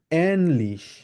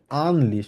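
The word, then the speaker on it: ähnlich: কিছুকে বলা হচ্ছে এনলিশ আমরা নরমালি এটাকে যদি উমলাউড না থাকতো তাহলে আমরা কিভাবে উচ্চারণ করতাম আমরা বলতাম হচ্ছে আনলিশ কারণ একে যার মানে কিভাবে কিভাবে উচ্চারণ করা হয় আ বলা হয় ওই জন্য আমরা বলতাম হচ্ছে আনলিশ বাট আনলিশ হবে না যেহেতু এখানে উমলা উঠাচ্ছে এজন্য সেজন্য আমরা বলবো কিভাবে এনলিশ একদম ইংলিশে যেরকম এ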